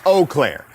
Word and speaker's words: Eau Claire: By the way, Doug, it's Eau Claire.